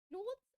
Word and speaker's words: clothes: Other clothes are new. See, there is no th.